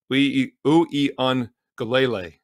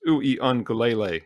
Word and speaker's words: Uiagalelei: Uiagalelei, 6 syllables. Uiagalelei, how do you like that, is the quarterback.